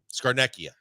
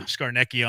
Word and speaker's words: Scarnecchia: Scarnecchia. That's it. Yeah, Scarnecchia on the neck.